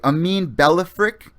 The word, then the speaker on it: Amine Ballafrikh: Excuse me if I do not pronounce his name right. Amine Ballafrikh.